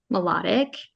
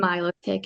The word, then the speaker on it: Milotic: So we traded him the Lily's Clefairy, and I pronounce it melodic. Mm. Ah. Say Mhm. Milotic if you want to. I don't think it's right. It sounds weird. It's melodic Okay. too. Yes, it's It's melodic.